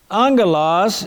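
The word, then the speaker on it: ἄγγελος: in the greek language if you have two gammas two g sounds together it is pronounced as an ng in english as in the word sing s-i-n-g the n-g-sound together therefore when angelos is transliterated into english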